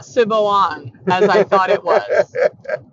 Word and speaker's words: Siobhan: Because I had heard the name Siobhan as a name in a show or whatever. Yeah. And I had read the name Siobhan, but did not pronounce it that way because it's Irish spelling.